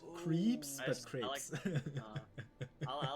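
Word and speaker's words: crêpes: like it was crepes with like crepe. Not crab, but crepe. Crepes. It's crepes. Okay, it's pronounced creeps in English. But that sounds creepy.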